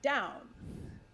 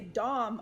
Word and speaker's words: Daum: so the deal is I grew up with my parents pronouncing our last name Daum, as one might pronounce Baum. And I was constantly correcting people because people would say Dom all the time.